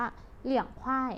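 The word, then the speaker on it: 凉快: อากาศ เย็น สบาย เนี่ย ใน ภาษา จีน อ่าน ออก เสียง ว่า เลอะ บวก เรียง เป็น เลียง นะ คะ เสียง 2 เป็น เหลี่ยง เทอะ + Y เป็น ควาย นะ คะ แต่ ความ จริง ต้อง เป็น เสียง 4 ด้วย นะ คะ เป็น ควาย นะ คะ คำ นี้ อ่าน ออก เสียง ว่า เลี้ยง ควาย นะ คะ ลูก เรื่อง ควาย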